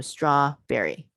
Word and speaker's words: strawberry: The syllable stress, the break and the syllable, the break for the syllable is right between those two consonants.